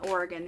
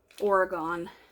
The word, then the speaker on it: Oregon: and Oregon and those not Oregon Oregon excuse me I mean to say it like that Oregon Oregon that's how I say it um this is fresh